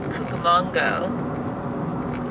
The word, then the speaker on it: Cucamonga: you had in rancho cucamonga and logo how do you say it manga like cucaracha yeah okay so he